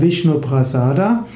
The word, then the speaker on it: Vishnuprasada: Sanskrit wäre Vishnuprasada, aber in den meisten indischen Sprachen spricht man heute von Vishnuprasad.